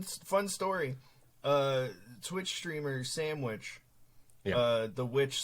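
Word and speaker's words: Samwitch: costs I fun fun story uh twitch streamer sandwich uh the witch spelled like s-a-m-w-i-t-c-h she just did a Chatters award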